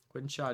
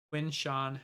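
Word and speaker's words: Quinshon: Quinnshaw Judkins. I always say his name wrong. Quinn Sean Judkins. There we go.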